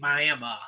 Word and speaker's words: Miami: were in Oklahoma it's it's spelled Miami they say it Miami yeah yeah yeah yeah